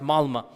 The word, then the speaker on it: Malmö: Malmö is spelled with an O, but it's pronounced Malmö.